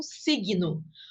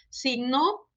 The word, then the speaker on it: signo: Porque em português a gente pronuncia, por exemplo, a primeira palavra como signo, como se fosse escrita com G-U-I. E em espanhol, não, a gente só pronuncia o som da consoante.